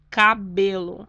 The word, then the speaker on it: cabelo: Cabelo. Ou seja, a sílaba tônica estaria no B, mas ela não é acentuada.